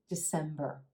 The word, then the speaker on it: December: in November and finally December December emphasis on that second available and the as in red December the first syllable is a schwa super quick instead of December the